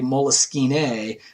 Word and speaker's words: Moleskine: So in I can't speak French, but it's Moleskine is like the French pronunciation. Sometimes you even hear people say Moleskine with a little accent on the E.